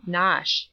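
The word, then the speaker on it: Knotacent: toss the seat of the Lord not dissent pronounced as if written nosh but it is not necessary to pronounce either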